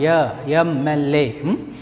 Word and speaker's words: MLA: The pronunciation of MLA begins with a vowel sound. MLA.